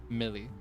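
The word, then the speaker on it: Mili: Millie.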